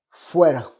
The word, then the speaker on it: fuera: Dehors, on dit fuera. D'accord? Fuera. Fuera. Alors ça s'écrit fuera en français, mais en espagnol tu prononces fuera. Attention, la R toute seule en espagnol, c'est comme un L roulé en français.